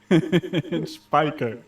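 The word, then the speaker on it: Spijkers: Just pronounce it with a silent J. There's no J in SpongeBob. What are you talking about, Jeff? Spiker. Right. You mean your actual surname, Spiker? Just spell it without the J then.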